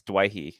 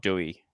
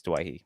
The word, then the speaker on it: Doueihi: last year late last year um the correct pronunciation is dwighty it's not Dewey and uh I knew this because of my